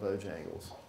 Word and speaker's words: Bojangles: I wanted need to get a have of Bojangles did I say that right that's the first